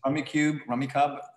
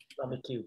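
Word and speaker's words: Rummikub: Rummy Cub. There's a machlokas how to pronounce that game. Rummy Cube.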